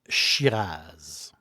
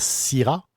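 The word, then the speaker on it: Shiraz: exemple un 100 % Chiraz on pourrait dire Sira parce que c'est les Australiens qui l'appellent Chiraz il y avait de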